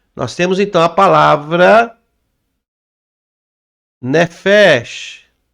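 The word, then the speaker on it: נפש: Nós temos então a palavra nefesh. Ó. Nefesh. Então como é que eu leio? Nefesh. Ó, aquele chi de cobra, né?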